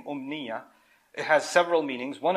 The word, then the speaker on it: أمنية: أُمْنِيَّة or originally pronounced munya, and then it became umniya.